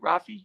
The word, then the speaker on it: Raffi: Raffi.